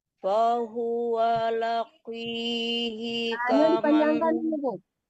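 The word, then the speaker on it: لاقيه: lagi Ibu, qaf besar itu tetap tebal ya, walaupun kasrah ya, tetap bacanya tebal, tapi enggak setebal baris atau baris di atas atau baris depan. Tapi tetap tebal, jangan dibaca qaf kecil ya. Fahuwa laqi, jangan ki, tapi ya ki.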